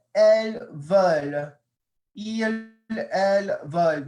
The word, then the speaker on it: elles: Notice I'm not pronouncing the S, so I'm not saying ils or elles. The only time I would pronounce the S is if there was a vowel.